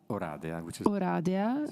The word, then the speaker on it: Oradea: Oradea, the right pronunciation, in Romania, at the Faculty of History and International Relations, Political Science.